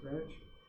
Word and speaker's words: Greenwich: Runs through England, Greenwich, England. It's spelled like Greenwich, but it's pronounced Greenwich.